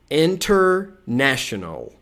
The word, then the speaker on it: international: A gente pode omitir o T, na pronúncia americana é muito comum, tá? Então, ó, a segunda sílaba mais forte é essa daqui, ó, N. E a primeira é na. Esse som aqui é o E. Então, international, international, international ou international.